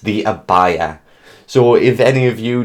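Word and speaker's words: Abaia: me a long time to learn how to pronounce within the spelling a b a i a i was like the abbae the abba because this is a like knights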